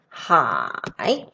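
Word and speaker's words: 海: related to water okay this character is pronounced as high and the meaning is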